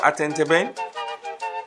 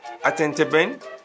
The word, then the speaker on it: atenteben: i'm holding the bamboo it's called atenteben attentiven you can spell it a t e n t e b e n and again a t e n t e b e n attend a ben or if you want